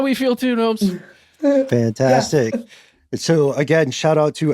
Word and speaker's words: Gnoems: I'm at Gnomes. It's like garden gnomes, but it's spelled different.